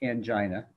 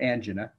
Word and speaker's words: angina: It's classic angina, or angina, if you want to pronounce it that way, which is dull pressure, usually substernal.